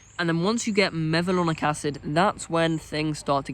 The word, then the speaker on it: mevalonic acid: Then you take the enzyme HMG CoA reductase, and then you get mevalonic acid. That's how you pronounce it.